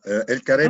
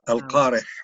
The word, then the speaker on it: El Kareh: C'est comme ça, El Carré. En arabe, en arabe. On peut pas, en français, on ne peut pas prononcer le ha, le Al-Qareh en arabe.